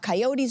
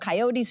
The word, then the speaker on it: coyote: And I was reading about coyotes who were running through the streets. And he came running out of his office and screamed and said, Grelo, it's not coyote, it's coyote.